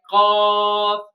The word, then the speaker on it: ق: When back of the tongue rises and touches to the soft palate, then it will pronounce bold Qaaf. Like Qaaf, Qaaf.